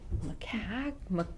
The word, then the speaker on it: Makuc: All right, so then so Maddie and I walked 40 Caves with Dan Stimson and Jim McCack. How do you pronounce It's MAKUC, like.